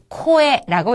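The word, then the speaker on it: こえ: 코에라고 읽습니다. 코라고 하는 것은 첫음에 왔기 때문에 가능하면은 꼬가 아닌 코에 가깝게 발음을 하시고 에라고 하는 거가 붙어서 코에.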